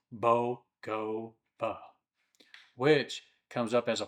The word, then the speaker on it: Bogova: There's also Bogova Waterfall, pronounced Bogova, which comes up as a popular nature stop in the region.